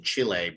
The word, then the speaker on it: Chile: Now I can tell you actually did study in Chile because you pronounce it Chile versus Chile, which is great.